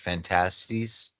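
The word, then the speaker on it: Phantastes: But it starts off as it's called Fantasies, or no, Fantasies, it's pronounced Fantasies, by George MacDonald.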